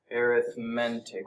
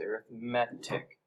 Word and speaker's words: arithmetic: so this is arithmetic arithmetic is not how you say it it's arithmetic all right so I